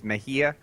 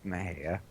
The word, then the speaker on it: Mexia: I think yeah you you would think it's Mahia but uh it's Maha and then okay here's